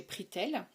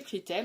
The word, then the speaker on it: Prixtel: m'avait trouvé un forfait défiant toute concurrence chez Pritel. Donc ça s'écrit PRIXTEL et donc ce forfait me proposait tout ce dont j'avais besoin pour une somme modique de 4,99 €.